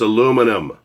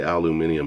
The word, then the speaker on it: aluminum: It's aluminum. Now, if I hear another person say aluminium again, I'm coming over there